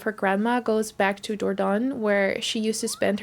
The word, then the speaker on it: Dordogne: Yeah, I think they say Dordogne in the game. That's how you pronounce it.